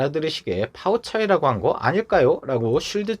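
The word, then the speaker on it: 泡菜: 그 이유는 바로 애초에 김치가 중국에서는 파우 차이 라고 발음 되기 때문이죠 즉 김치라는 한자 를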